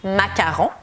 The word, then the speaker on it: macarons: Ustedes dicen macaron, pero O-N hace on, así que los macarons.